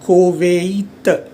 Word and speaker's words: Koweït: La Hongrie, land, India, l'Iran, l'Irlande, Ireland, l'Italie, d'Italie, l'Italie, Italy, le Japon, Japan, le Koweït. So you have a tréma here. These two will be pronounced separately.